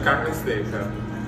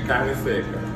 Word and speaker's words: carne seca: Pastel de carne seca. And how do you pronounce it one more time? Pastel. Pastel. De carne seca.